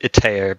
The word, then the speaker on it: Itair: Itar? I pronounce it Itair, but you can really say what you like.